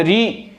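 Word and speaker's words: ऋ: इसके बाद री, री जो होती है इसका उच्चारण स्थल क्या है, मूर्धा है। री, जीभ आपकी पीछे की तरफ जाएगी, शा, जीभ आपकी पीछे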